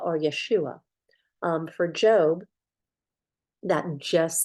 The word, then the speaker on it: Yeshua: say Jesus they didn't have the J they pronounced it Yeshua Yeshua or Yeshua um for job that just sound again it's